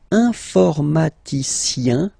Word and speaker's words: informaticien: And the last group is IEN, informaticien, yin. So that's the way to pronounce this IEN, yin, okay?